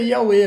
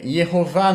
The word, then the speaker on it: Yahweh: Então, mais provavelmente é Yahweh mesmo, né? Porque provavelmente era som de W, né? E não de U, tá? Eu não vejo possibilidade de outra, tá? Eu não vejo outra pronúncia, eu não vejo outra pronúncia além do Yahweh, né?